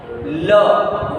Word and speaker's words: le: Le. Why you are pronouncing le? Because I told you final will be pronounced when word is 1 syllable.